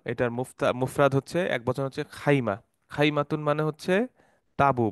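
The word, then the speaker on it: خيمة: থাকেন প্যাভিলিয়নে থাকেন সো খাইমা শব্দটা হচ্ছে লোগাতুল ফুসহা ফুসহাতে খাইমা বলে আর লোগাতুল আম্মিয়া অর্থাৎ ওদের ডায়ালেক্ট বলে খিমা যেটা আপনারা হজে গেলে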